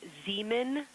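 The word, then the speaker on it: Zeman: We believe that that is Zemen Crater.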